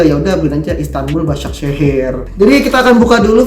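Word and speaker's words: Başakşehir: Istanbul basak sehir jadi Bacanya adalah basak sehir ini ini adalah plastiknya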